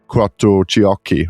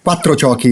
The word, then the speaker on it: Quattrociocchi: And I think I got it right by saying Quattrociocchi, right? Yeah, it's perfect. Thank you so much. It's misspelled every time I took abroad. It's always a mess. Quattrociocchi, Quattrociocchi. Quattrociocchi is the right pronunciation.